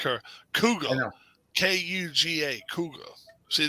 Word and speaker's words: Kuga: Kuga. I know. Kuga. Kuga. See, they can't spell right over either. Cougar. No. Kuga. Kuga. Yeah. Kuga. Kuga. And it's the same thing. Just say it like a Bostoner.